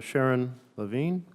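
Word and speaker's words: Sharon Lavigne: testimony and we're going to turn now to Sharon Levine I'm sorry if I'm mispronouncing your name that's correct oh thank you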